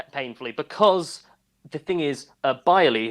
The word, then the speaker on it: Beyrle: Because the thing is, Byerly, his last name is spelled Beyrle, spelled a really interesting way, because his grandparents are German.